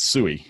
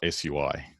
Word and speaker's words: sui: a sui is and it's suey not sui because it's easy to say things like a long word like that with just a few a few um syllables so there you go